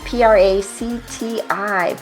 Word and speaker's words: Practi: Matthew Kerbis, a subscription attorney and CEO of Practi, p r a c t i. Practi, I'm so glad you gave me the pronunciation for that.